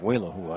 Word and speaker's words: Walahua: Walahua, more like Walahua, I think is the way I was told to pronounce it.